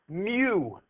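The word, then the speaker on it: μ: a Greek letter and the Greek letter is pronounced Mew like a cat you know what I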